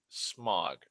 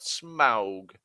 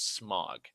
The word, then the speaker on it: Smaug: like Sauron smog like the AU has its own different pronunciations depending on what the letter is that follows it anyways so I I